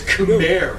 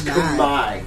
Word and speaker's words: Khmer: All this time you thought it was Khmer, right? No, it's Khmer. The R is silent. And the E is an I.